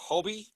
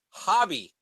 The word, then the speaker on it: Hobie: Hobie Brown Hobie yes how else did you think it was Hobby you thought his name was Bobby Brown his name is Hobie Brown James okay oh b-y Hobby ah it's Hobie Brown h-o-b-i-e Hobie Brown James wow okay you